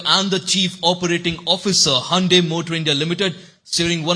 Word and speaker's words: Hyundai: What's the correct pronunciation? So it's very simple. It's Hyundai. Hyundai.